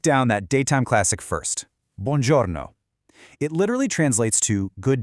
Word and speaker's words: buongiorno: Start with buon, sounding like the English word bun, and then giorno, where the G sounds like the J in journal. Buongiorno.